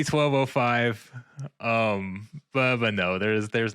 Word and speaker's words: 1205: I typically say 1205.